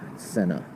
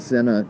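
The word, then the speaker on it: Sena: Senna I think I'm saying it right s-e-n-a Senna and they have really high ratings they're fairly affordable they seem like these are rugby girls they're kicking butt and uh rugby branches cool but yeah the Senna they they make some good stuff and a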